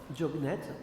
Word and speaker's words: Diognète: Vous tapez Épître à Diognète, comme ça se prononce, D-I-O-G-N-E-T-E, hein, Diognète.